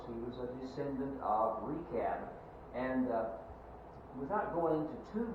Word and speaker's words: Rechab: I looked this up, and that CH there is pronounced like a K, so I'm going to try to remember that. It's called Rechab. He's the son of Rechab, and the descendants of this man Rechab are called Rechabites.